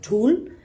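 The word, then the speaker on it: ঢোল: इसमें जो ढोल बजाते हैं, जिसको हम लोग धूल बोलते हैं, वी प्रोनाउंस इट एज धूल.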